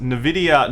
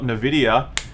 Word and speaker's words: Nvidia: New Zealand Dollars ralph it's pronounced Nvidia not in a video love from your brother in New Zealand sure is that a thing sure bro you cheer bright like jr.